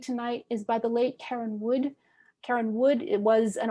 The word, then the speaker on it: Karenne: It's called First Light, and the poet is Karen Wood, and that's spelled Karenne, Wood.